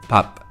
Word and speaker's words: 밥: En caso de empezar o acabar así se pronunciará como P, pero en medio se pronuncia como la D. Por ejemplo, pap, que significa arroz o comida.